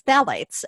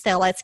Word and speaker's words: phthalates: within that word fragrance is phthalates, and that's spelled with a P in front of it.